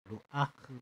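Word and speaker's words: רוח: 루아흐 이렇게 발음하는데 이 바람과 성령이 같은 말입니다.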